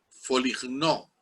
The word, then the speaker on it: Foligno: apellido Foligno en italiano, pero se escribe Foligno, o sea, F-O-L-I-G-N-O, Foligno. Se dice Foligno.